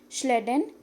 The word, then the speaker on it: Schleiden: scientists sleddin and Shawn pay attention to the pronunciation it is sleddin and chuan sleddin was a scientist